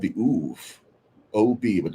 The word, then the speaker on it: Ob: word for them, and they were called the Uv, O-B, but it's pronounced Uv, and it's a Canaanite word, and it means revenant, one who returns.